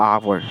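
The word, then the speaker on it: hour: He spend an आवर solving the problems, यहाँ पे आवर का प्रोनाउंसिएशन किससे स्टार्ट हो रहा, आवर, आ से स्टार्ट हो रहा, तो यहाँ पे क्या लगेगा, एन लगेगा, ठीक है।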